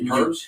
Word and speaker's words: herbs: I think it's them herbs he be giving me. My man's right here. Herbs? Yeah. What's the I don't herbs? think you pronounce the H, by the way.